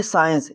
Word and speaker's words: science: देखो तो यहां पे हो जाता है सी साइल। जो सी है वह साइलेंट हो जाता है और हो जाता है साइंस।